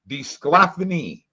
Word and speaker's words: DeSclafani: DeSclafani.